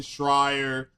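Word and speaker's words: Schreier: said, "If you're gonna say it's Jason Shrier, whose last name rhymes with liar, if you're going to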